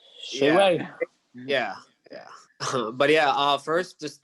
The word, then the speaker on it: Shaiway: There's like I think you lost a syllable on him, Andrew. Yeah, it's Shaiwayvlogs. Shayway, see? Shayway.